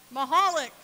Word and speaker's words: Michalek: his lesson time Michalek how do you say it say mahalik time' holic Schuyler Hopkins